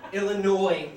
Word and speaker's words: Illinois: Illinois. But it was Illinois. Thank you. That's correct pronunciation.